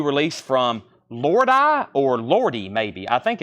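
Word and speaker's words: Lordi: at 90 now it's at 95 it is pronounced lordy okay Lord e thank you 38.99 the arocalypse I've got two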